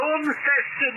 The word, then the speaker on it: Launceston: Well, I can never pronounce it, but Lawsonst, pronounce that name beginning with L. Over. Yes, Launceston there, John.